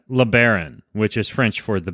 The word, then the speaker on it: LeBaron: And his name is LeBaron. am I pronouncing your name right? Is it LeBaron or LeBaron or LeBaron?